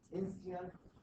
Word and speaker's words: Insteon: Insteon, ZigBee, and Z-Wave.